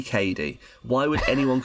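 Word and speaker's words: Cady: like constantly being called caddy her name is spelled phonetically it's clearly Katie why would anyone call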